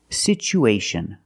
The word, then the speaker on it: situation: pronunciation for this word we see the T as a second syllable with Tua so we pronounce it with the CH sound it's pronounced situ situation one situation or two situations so the second syllable is the long u like Boot and moon situ situation we have two vowels